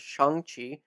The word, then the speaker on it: Shang-Chi: how the character's name is supposed to be pronounced. Yes, as We've it all been should saying it be. wrong. So it's Shang-Chi.